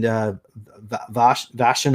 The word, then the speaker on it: Vashon: So in this particular video, we discussed about how you went to in Vashon Island. Did I pronounce it Vashon right? Island, yeah.